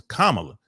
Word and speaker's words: Kamala: hand and then she told him how to pronounce her name my name is Kamala and you notice Donald Trump didn't say her